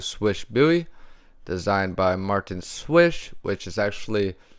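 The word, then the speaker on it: Slysz: is the spyderco swish buoy designed by martin swish which is actually spelled like sleaze but you know hey it's pronounced swish so don't be calling the mana sleaze we have a belt satin finish m390 blade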